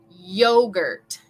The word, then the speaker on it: yogurt: We want to say yeah from the back of our throat. Yogurt, yogurt.